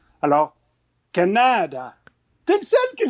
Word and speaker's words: Canada: disent Canada alors que l'accent tonique en langue W dat d'où vient le nom de notre pays et toujours l'avant-dernière syllabe alors Canada tu es le seul